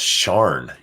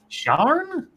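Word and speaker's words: Sian: Furry Kitten says it's pronounced Sharn. Sharn? S-I-A-N is Sharn? Really? S-E-A-N is Sean, so. Sharn.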